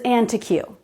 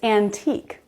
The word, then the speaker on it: antique: My sister-in-law said she used to think this word was antique, but that's not it, it's antique.